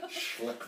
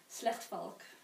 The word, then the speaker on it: Slechtvalk: Can you pronounce it? Schlechtvalk. Wow. Did I say it right? Not really. You say it. Slechtvalk.